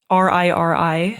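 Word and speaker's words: Riri: the madoka didi did you how do you spell that r-i-r-i ah rishi ri-ri and the homura we don't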